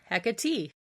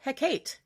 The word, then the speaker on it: Hecate: Some say Hecate. That's okay, that's valid. Some pronounce it Hecate, and well, that's also correct.